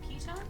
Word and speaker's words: piton: Is it Piton?